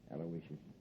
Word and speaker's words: Aloysius: i guess you deserve a break yeah you spell that little name right it's i u a-l-o-y-s-i-u-s aloysius sure how could i miss this aloysius uh